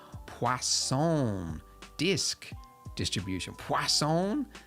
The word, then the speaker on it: Poisson: Poisson? There's no W in it, but I was told that that's how you say it. I guess it's French.